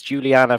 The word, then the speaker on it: Giuliana: guest all the way from the states it's juliana from the band band inc i hope i pronounced your name right yes you did thank